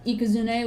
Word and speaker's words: Ikazune: off of Japanese language, then Ikazune would be the correct pronunciation. And the E wouldn't be silent because they separate their words into those like mini symbols. So there's the I, Ka, Zu, and Ne. So it would be Ikazune.